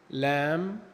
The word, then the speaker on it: lamb: حرف الـ B لو جه في نهاية الكلمة وقبليه حرف الـ M، حرف الـ B لا ينطق. ناخد الأمثلة. comb، lamb، tom، climb.